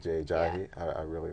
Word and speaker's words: Ajayi: How do you pronounce his name? Jay Ajayi. Jay Ajayi.